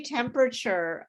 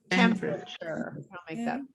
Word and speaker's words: temperature: um temperature temperature uh when we say temperature we often reduce the sounds the number of syllables so it sounds like temperature like that temperature sorry uh temperature so that's how you would say that temperature um when we say